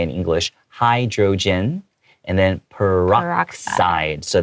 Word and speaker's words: peroxide: Hydrogen and then peroxide. So the X is pronounced more like an S. Okay, peroxide.